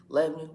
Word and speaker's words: Lebanon: just how can you you can't quite say it like they say it if you're from there Tennessee Lebon Lebanon Lebon Lebon there's like no vowels Le is anyone from